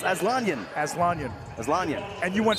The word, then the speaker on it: Aslanian: aanan and you know people have pronounced his name many different ways asan aslanian Ryan you found out it was make it two syllables aanan aanan asan and you